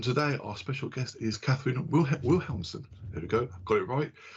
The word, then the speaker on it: Cathrine: So I'm Cathrine, or if you want to try the Norwegian pronunciation, it's Cathrine Wilhelmsen.